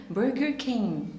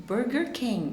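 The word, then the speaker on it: Burger King: مش بننطق لحد الاخر، مش بقول كينج، اوكي؟ برجر كينج. برجر كينج، اوكي؟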